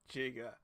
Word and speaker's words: Giga: do brown method of calling it jiga just because it's no soft G before an i and I'm really not